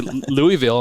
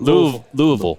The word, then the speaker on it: Louisville: I say Louisville, and everyone's like, no, you can't say Louisville. It's you have to drag it out a little bit. Louisville.